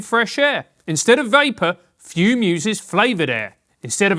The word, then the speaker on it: Fum: It's spelled f u m and pronounced fume, which makes no sense.